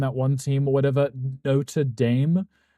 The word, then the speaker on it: Notre Dame: one team or whatever Notre Dame and it makes me rip my hair out because it's literally spelled the same as Notradam, but it's called Notre Dame here.